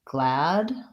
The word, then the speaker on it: glad: So I pronounce both of those with the a, black cat vowel. So glad and bath.